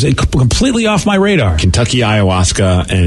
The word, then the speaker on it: ayahuasca: And I'm still on the path, but I feel like I'm a lot closer to that ayahuasca experience as far as how I feel about life than I did back 10, 15 years ago.